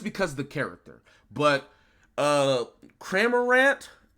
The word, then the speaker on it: Cramorant: the character but uh kramer rant i think is how you say their name is c tier for